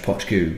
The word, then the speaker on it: Poit Dhubh: now I know that this is this is pronounced potagooo because i have read various website saying this